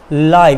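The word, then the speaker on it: live: इस सेंटेंस में आपको अगेन लाइव, इसको लिव मत पढ़िएगा, जस्ट प्रोनाउंस इट लाइव।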